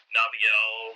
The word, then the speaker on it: Naviel: I pronounce it Nabil. Naviel.